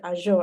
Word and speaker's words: Azure: Like, let's try to be mindful of how we pronounce this word, like Azure DevOps. It's Azure actually.